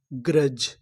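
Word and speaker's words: grudge: जी आर यू, ग्रा, डीजीई, जा, ग्रज, ग्रज। ग्रज का मतलब होता है ईर्ष्या। यहाँ पर जो बीच में यू लिखा है वो हमारा साइलेंट रहेगा, यू का उच्चारण हमें नहीं करना।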